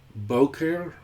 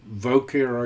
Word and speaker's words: boker: Vayehi erev, vayehi boker, or voker, I guess you would say.